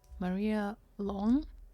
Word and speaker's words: Maria Lohn: Maria Long. Am I pronouncing your name correctly?